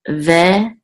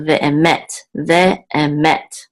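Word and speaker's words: וֶאֱמֶת: And this is chesed, which means kindness, and this is ve'emet, and the accent mark is on the last syllable, met. We have a secondary accent here, so ve'emet. This means and truth.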